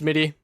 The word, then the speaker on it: Smitty: It's pronounced Smitty.